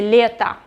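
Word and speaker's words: лето: season is letta letta pay attention that i don't pronounce o i say letta letta this is summer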